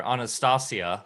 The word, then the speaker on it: Anastasia: Yeah, there's an interesting scene in the books where Anastasia, sorry, am I saying it right?